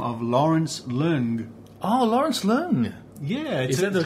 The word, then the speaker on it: Lawrence Leung: Oh, Lawrence Leung. Yeah, is that the correct pronunciation?